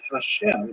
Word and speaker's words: Hashem: songs of God and the word Hashem of course is pronounced with the letter H but there is no